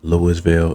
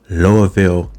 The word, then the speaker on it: Louisville: Now, I had to make sure that I said it right, because I was saying Louisville and people said, I know you're not from here. So Louisville, Kentucky.